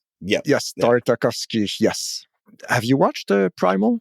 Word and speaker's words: Tartakovsky: sorry Hector that's a jendi tarov I can't pronounce this last name tartakovsky yeah yes tartakovsky yes have you watched Primal no you know